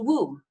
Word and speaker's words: Wome: guy named called mr i'll spell it for you w-o-m-e but when he said it it was i hello i missed a womb and i was actually